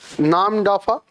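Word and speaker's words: Namdapha: Nam dafa flying squirrel.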